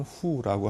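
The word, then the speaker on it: 沪: 그래서 상해포라고 예전에 불렀었고, 그 약칭은 호를 씁니다. 중국어 발음으로는 후라고 하는데요.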